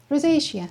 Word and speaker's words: rosacea: I once had something, I actually practiced pronouncing them, but if you could please help me. This. Rosacea? Rosacea.